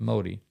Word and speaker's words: Modi: I believe that's pronounced Modi.